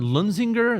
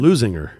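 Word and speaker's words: Leuzinger: All right, the Chargers taking on Lunzinger. Is that how you pronounce it? Lusinger. Oh, Loser. Well, hopefully they're going to be losing the game. L-E-U, Zinger. Lusinger. Yeah.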